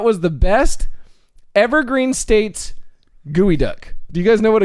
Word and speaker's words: geoduck: Gooey duck. Yeah, Evergreen State's gooey duck. Kick him in you the gooey spell it ducks. Geo though. Yeah, I G-E-O, just- gooey duck.